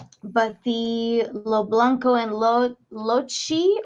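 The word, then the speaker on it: Locci: the Lo Blanco and lochi or Loki the way it's spelled is l-o-c-c-i August 21st 1968 they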